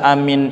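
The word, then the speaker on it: آمين: pertama dan paling bagusnya dibacanya tidak bertasydid tentu mimnya dan dibaca panjang hamzahnya amin itu diajarkan bacaan itu Amin begitu kedua saudara bacanya dipendekkan hamzahnya asal jangan di tasdid boleh terserah dijelaskan oleh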